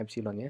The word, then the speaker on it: epsilon: Jadi ini menjadi epsilon, bacanya epsilon ya.